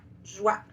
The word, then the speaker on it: joie: On prononce vraiment le son oua, joie.